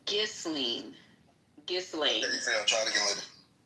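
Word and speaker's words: Ghislaine: It's Golene.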